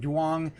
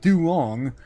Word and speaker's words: Duong: market expectations analyst David Dwang and uh that's a terrible name. David Dong. David Dwong. Uh Duong. Uh yes, the uh Colin it's Dong. It's pronounced Dong.